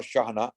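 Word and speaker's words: Chejne: spain also there is another book by anwar shahna anwar shahana anwar is spelt a-n-w-a-r shahna is spelt c-h-e-j-n-e and the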